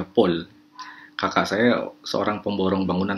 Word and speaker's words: Paul: Paul dibacanya Paul.